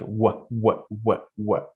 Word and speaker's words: what: When they want to pronounce this word, they pronounce it like V, and they say word, which is what. You have to just change your formation of lips, like you're trying to kiss someone. It's like what word, for example.